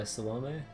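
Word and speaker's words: Salome: yeah it is okay so she pronounces it or at least as far as yeah salom yeah okay thank you fate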